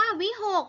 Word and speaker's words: วิหค: สระ โอน นะ คะ ดู คำ ว่า วิหค เห็น ไหม คะ คุณ ครู สะกด ด้วย คอ ควาย นะ คะ แต่ ว่า เวลา อ่าน ออก เสียง กู อ่าน ออก เสียง เป็น เสียง ต่อ ไก่ นะ คะ ออก เสียง เหมือน เลข 6 เลย นะ คะ ก็